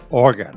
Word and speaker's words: Oregon: Is that how she said it? Oregon, right. We were saying it wrong. She corrected us.